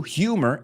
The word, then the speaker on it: humor: Fijaos en la pronunciación ahí también, mixture, no es mixture, mezcla, of will, voluntad, humor, la U es como you, humor and imagination to protect his son from the dangers around their camp.